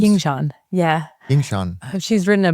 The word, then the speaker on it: Yingshan: So why don't you tell us a little bit about what you and your colleague Yingshan Shao, is that correctly pronounced? Yingshan, yeah.